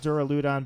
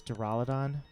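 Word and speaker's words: Duraludon: this draal Adan I I want to call it dural udon but I guess the official pronunciation is to Rolla Don either way that's that's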